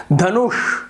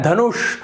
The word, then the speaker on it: धनुष: और थोड़ा भारीपना है, धनुष, तो ये जो श है इसका सही उच्चारण होता है।